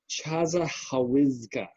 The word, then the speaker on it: Chassahowitzka: It's spelled Chashahowizka. Chassahowitzka.